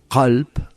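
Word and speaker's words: قلب: Por ponerte un ejemplo, si nosotros decimos calp con una k gutural, calp significa corazón. Pero si te decimos calpural, mucho más suave, calp significa perro.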